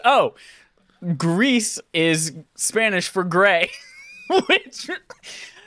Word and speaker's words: Gris: sense for some reason i thought it was french and i've been pronouncing it gree this whole time and then i just now looked it up and said oh greece is spanish for gray